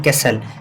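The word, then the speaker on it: castle: कैसल पढ़ते हैं इसको, क्या पढ़ेंगे? कैस्टल नहीं, कैसल।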